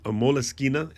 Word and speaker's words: Moleskine: Anybody who's a Moleskine is how you actually pronounce it.